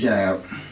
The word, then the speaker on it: Jayb: So look, man, I've been knowing you for a while, man, but your name is Jayb. Right. You spell it Jayb. The Y silent.